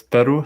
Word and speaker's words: pwru: Okay, so let's say that, okay, so I'm going to run the PWR, although my colleague Joe suggested to pronounce it as Peru, so it's easier to pronounce, but anyway, so I'm going to attach those K-probes.